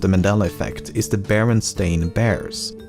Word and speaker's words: Berenstain: remember the name as Baron Steen and not Baron stain I also find it to be the most